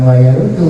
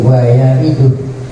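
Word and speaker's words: وَيَرِدُ: Bukan wayarudu, wayaridu.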